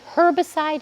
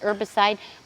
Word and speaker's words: herbicide: Actually, herbicide and herbicide both are correct to pronounce.